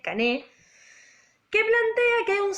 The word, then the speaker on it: Cané: Ingenieros, en un momento, primero piensa como en tomar a un pensador que es anterior a él, que es Cané, C-A-N-E, acento en la E, Cané, que plantea que hay un círculo social dominante, ¿no?